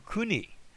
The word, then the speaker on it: koine: Our modern Greek if you go to Greece, you'll hear this pronounced as a e. Like in the word key. So that instead of koine, they will refer to kuni.